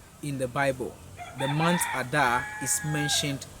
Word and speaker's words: Adar: into the 12th month, which is the month Adar. The month Adar. It is spelled A-D-A-R.